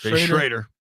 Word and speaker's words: Schroeder: So Doug Williams just got hurt, and Jay Schroeder. That's how you say it? Schrader. Schrader.